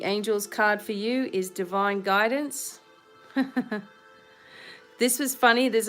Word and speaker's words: Devine: has come out obviously my last name is divine d-e-v-i-n-e some people tell me that i spell you know my name wrong even though it's my name it's a play on words be divine it's a way of